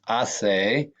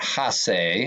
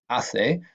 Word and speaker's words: hace: say a lot that's I say not hey snot ha say and remember the H is not pronounced here so it's I say repeted as a boy